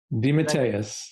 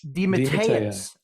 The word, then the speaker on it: DeMatteis: Uh, your name, your name, mean how to pronounce my last name, you mean? Uh, well, uh, Datis Dimatus. Dimatus.